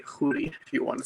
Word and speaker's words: Khoury: my name is it's Arabic say hoodie do you want to